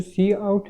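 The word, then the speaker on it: cout: जो सी आउट है वो हमारे पास एक आइडेंटिफायर है सी आउट, जो कि प्रोनाउंस होता है इस तरह, यानी कि सी आउट ये इस तरह प्रोनाउंस होता है।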